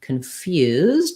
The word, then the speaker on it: confused: context and arrangement that in confused we have second syllable stress and so here instead of con like in context our con syllable is unstressed and we have vowel schwa so it's going to sound more like khan and the ipa is